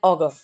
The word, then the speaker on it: auger: Next is augur and augur. Same in pronunciation, but different in spelling usage.